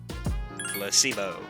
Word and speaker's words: placebo: after me for SIBO the stresses on the middle syllable placebo splendid it's so charming